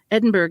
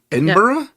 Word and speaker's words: Edinburgh: Edinburg. It says Oh, Edinburgh. Is that how it's pronounced?